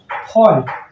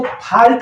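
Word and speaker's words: fault: तरह से हो गया फॉल्ट इसको फाल्ट में ही पढ़ेंगे बहुत सारे लोग हैं जो फाल्ट उच्चारण करते हैं लेकिन वो सही नहीं है हमें कोशिश करना चाहिए फॉल्ट बोलने की और इसके लिए अगर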